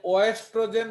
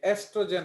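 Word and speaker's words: oestrogen: Biology में ओ ई is pronounced as ई, तो ये ओएस्ट्रोजन नहीं होता है इडियट, ये एस्ट्रोजन होता है, ओके। तो जो ओ ई है, आप इसके जगह सिंपली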